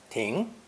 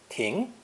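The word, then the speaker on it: 亭: continuing on their journey pronounce second tone ting ting it's a phono semantic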